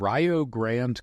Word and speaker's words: Rio Grande: is a school called Rog Grand College okay and it's spelled like Rio Grande but they have this non-traditional pronunciation which is another long